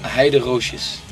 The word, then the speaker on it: Heideroosjes: It's a Dutch name, and the pronunciation is ハイドローシス。